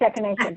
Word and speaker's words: echinacea: Oh, the gardener said then that it's echinacea.